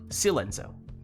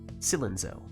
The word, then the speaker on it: Silenzo: Like long I or short I sound? Silenzo? Short I. Silenzo. Silenzo.